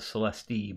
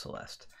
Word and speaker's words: Celeste: I know it's jokingly call it the Celeste, but it's actually pronounced Celeste.